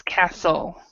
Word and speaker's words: castle: say the word Castle you do not say the T so the t is silent oh it's Castle instead of castle castle